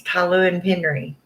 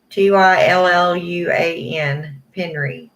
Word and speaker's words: Tylluan Penry: her pronounce her name, either she says it a lot faster or she says the L twice, but it's Tylluan Penry. Tylluan Penry.